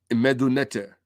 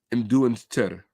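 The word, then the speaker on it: Medu Neter: onomastic writing, is called Meduneter. Okay? Meduneter, or Mduneter, which is the correct pronunciation.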